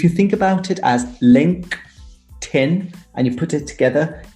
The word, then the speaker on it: LinkedIn: think of is a lot of people say LinkedIn, which drives me crazy. Yeah, you're right. And it should be LinkedIn with a T sound, like table. If you think about it as LinkedIn and you put it together, it makes much more sense.